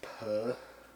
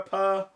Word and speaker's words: Pugh: We had a Puh weekend. Yeah, Pugh. P-U-G-H. I feel like this is very quickly gonna devolve into Pepe Le Pew. I was just gonna say Pug. And the H is silent.